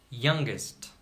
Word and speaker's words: youngest: it isn't example young youngest in the word young we do not pronounce G but in the word youngest we pronounce G because there is another soluble after the letter G in the word Cinna